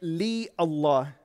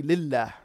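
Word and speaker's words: لله: letter har fillem but you don't say in the arabic language li allah you say lillah for it is easier in terms of pronunciation what is islam lillah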